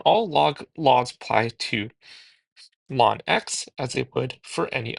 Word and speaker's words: ln: to ln x or again produced pronounced as long x and known as the natural logarithm. So again here not known as the natural logarithm. So again all log laws apply to lawn x as they would for